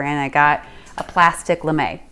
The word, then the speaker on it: lame: It's called a Lemay. It's spelled kind of lame, L-A-M-E.